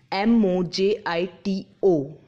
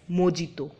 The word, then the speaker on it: mojito: salmon not Salman so our next word is MOJ IT oh it was pronounced as mijito but it's real pronunciation is mojito mojito you